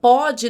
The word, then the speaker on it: pode: Note que a forma verbal pode no presente tem o som mais aberto. Pôde, no passado, que é o caso dessa frase, tem o som mais fechado, recebe, portanto, o acento